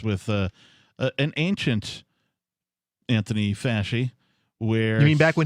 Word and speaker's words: Fauci: still trust this guy people no it's anthony faschi that's the correct pronunciation he has said everything once he's backtracked